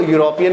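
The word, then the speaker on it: European: देखो यूरोपियन में ई is silent, ई को नहीं बोलेंगे।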